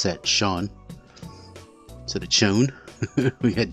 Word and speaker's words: Chone: here is a sean figgins yes you do pronounce that shawn so the chone we got david murphy we